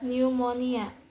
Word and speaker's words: pneumonia: P is also silent in PN at the beginning of a word. For example, such as pneumatic becomes pneumatic, or pneumonia becomes pneumonia.